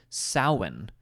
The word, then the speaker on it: Samhain: roots an incredibly old Celtic holiday called sin which was first celebrated well over 2,000 years ago oh my gosh and you know I love these these Irish spellings oh yeah so cuz it phonetically does does not look anything like that it's SP spelled s a m h a i n that does not look like s yeah exactly it just